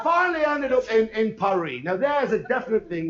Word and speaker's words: Paris: ANYWAY, I WENT I FINALLY ENDED UP IN IN PARIE. NOW, there's a definite thing where British people milk it up. You call it Paris. No, that's cement. That's what you see. Paris. It's Pari. Pari.